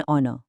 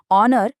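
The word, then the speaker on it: honor: शुरू तो एच से हो रहा है जो एक कंसोनेंट है पर यहां एच तो साइलेंट है। आवाज आ रही है ओ की एक वोवेल साउंड। तो क्या हुआ? एन ऑनर। इट्स all about the sound. तो एच से शुरू होने वाले शब्दों का फंडा एकदम क्लियर है। अगर एच चुप है मतलब साइलेंट है और आवाज वोवेल की आ रही है। जैसे ऑनर या एयर में तो एन लगेगा।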